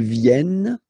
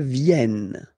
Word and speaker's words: viennent: Ils viennent, elles viennent. Ils viennent, elles viennent, all right? E and T, you don't pronounce them.